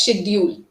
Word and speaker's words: schedule: was away from both there are two pronunciations yes one is British pronunciation and one is American so in British we say it as schedule you know from childhood this is my schedule but the second is